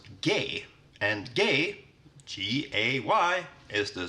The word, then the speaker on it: G: And then we have G, which in Swedish is pronounced gay.